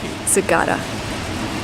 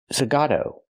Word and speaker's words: Zagato: Aston Martin Zagata. What? Nice. It's not pronounced Aston Martin Zagata. It's pronounced Aston Martin. Zagato.